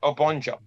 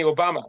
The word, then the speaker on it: Obonjo: pronounce my name, President Obonjo. A lot of people, when they find it difficult to pronounce my name, they call me Obama, President Obama, because it sounds similar.